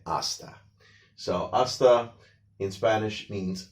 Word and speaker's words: hasta: So in hasta la vista, the H is silent. We don't say hasta, we say hasta.